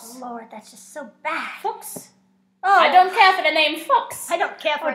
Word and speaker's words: Fuchs: How do you pronounce it? Fuchs. Fox. You have to get the German.